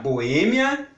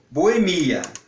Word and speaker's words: Boêmia: prestar muita atenção porque se nós pronunciamos com força no E como foi como Boêmia nós vamos ter que colocar o acento circunflexo muito bem se nós pronunciar mas como Boemia aí já não tem acento É com força no